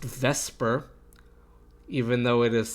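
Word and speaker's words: VSEPR: pair repulsion theory which for whatever reason is pronounced vesper even though it is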